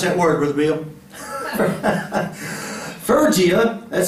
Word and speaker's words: Phrygia: How do you pronounce that word, Brother Bill? Phrygia.